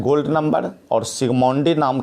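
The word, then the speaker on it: Zsigmondy: पहले लिख दें सिगमोंडी में जेड जो है साइलेंट है, 1901 लिखेंगे द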